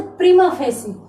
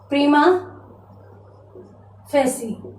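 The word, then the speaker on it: prima facie: इसको क्या बोल सकते हैं, इसका उच्चारण क्या हो सकता है? तो प्रीमा फेसी, प्रीमा फेसी।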